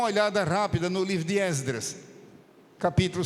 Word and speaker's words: Esdras: rápida no livro de Esdras Capítulo 7 são passagens conhecidas Esdras muita gente PR Já que é reunião de obreiros muita gente pronuncia exas você puder pronuncie com o e aberto Esdras mas se disser ESD